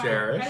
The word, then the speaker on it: Jairus: for bringing and returning jarish to me in one piece i was very concerned that i was going to have to find another secretary thank you mispronounced his name though jairus that's his name you mean kesha no